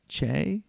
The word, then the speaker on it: Che: Che?